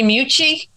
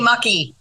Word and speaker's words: Mucci: Mucci. And will be better than what I've been called before. She'll be our last reader. The way it's spelled, sometimes they say Mucky. Okay. That's really bad.